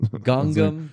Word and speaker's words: Gangnam: The fucking 2012 hit Gangnam Style. Oh. I could say it anyway, and people will go, that's how you pronounce it. Gangam.